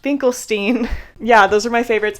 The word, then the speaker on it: Finkelstein: by Norman finklestein which I did confirm his last name is pronounced finklestein yeah those are my